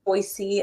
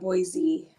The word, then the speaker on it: Boise: And Boise is Boise instead of Boise.